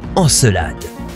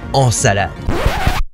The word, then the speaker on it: Encelade: sur elade tout d'abord ça se prononce enelade pas ensalade désolé les copains encelade